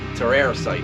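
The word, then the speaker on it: Terrasite: So Cattle Decapitation with Terroricide. I think that's how you pronounce it. Terroricide. Not Terroricide, but Terroricide.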